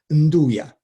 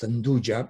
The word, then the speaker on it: nduja: sort of recent ingredient, nduja, which I noticed, sometimes pronounced nduja because of the J in the spelling, but it is obviously a word which may be connected with the French andouille, because it's a kind